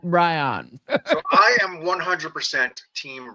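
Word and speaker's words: Bryon: It's B R Y O N. So I pronounce that Ryion.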